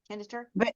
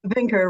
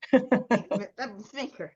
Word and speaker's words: Veenker: Did I say it right? Kenter? Veenker rhymes with thinker. Veenker.